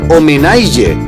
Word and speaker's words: homenatge: Els Ports pronuncien IG en compte de TG, és a dir, en lloc de dir homenatge, diuen homenaige, i en lloc de personatge, diuen personatge.